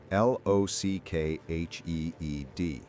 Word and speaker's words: Loughead: This time, he spelled it phonetically, Lockheed.